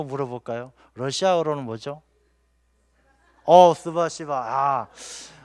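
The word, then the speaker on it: спасибо: 스바시바. 이 발음이 좀 거시기 하긴 합니다만, 이 스바시바가 좋은 뜻이에요. 감사합니다. 그래서 이게 감사합니다를 욕하듯이 하면 안 돼요. 그냥 스바시바 이렇게 웃으면서 해야 되지, 스바시바 이러면 안 되는 겁니다.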